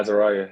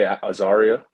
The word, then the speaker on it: Azaria: You pronounced it just like my father was. It's crazy. Azaria, that's correct? Yeah, Azaria. Yeah, that's perfect. A lot of people say Azaria, but Azaria is a proper pronunciation.